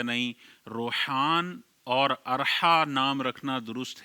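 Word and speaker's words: روحان: हैं तीसरा नाम है रौहान रा पर ज़बर है। वाव साकिन है। हा अलिफ और नून रौहान।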